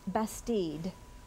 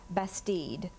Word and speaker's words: bastide: Bastide. Bastide. May I have the definition? A village or town in medieval France built especially for defense and usually laid out according to a definite geometric plan. Bastide.